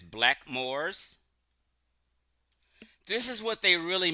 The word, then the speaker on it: Blackamoor: They said right here it says black Moors. This is what they really mean is black Moors. They didn't pronunciate it Blackamoor. They just said Blackmoors.